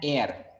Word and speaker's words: heir: an and you are going to not pronounce the sound h. So how you pronounce it? An air, similar like this air. That is not air at all, but this air is pronounced in the same way the word it is pronounced.